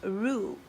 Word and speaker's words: Roux: I asked my girlfriend how to say this name, and she and I both Googled it, and it's pronounced Roux, right?